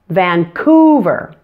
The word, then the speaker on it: Vancouver: syllables van ku ver the middle part is the loudest and longest Vancouver now let's take a